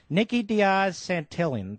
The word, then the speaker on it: Nikki Diaz Santillan: we'll get to you Nikki Diaz Santillan did I pronounce that properly yes I believe you have she an illegal alien